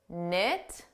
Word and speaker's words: knit: as knife KN not knit no and now KN all of these words the K is silent so the word starts